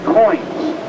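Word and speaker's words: quoins: molding and they're called coins pronounced like a nickel or a dime but spelled q o i ns they're called coin post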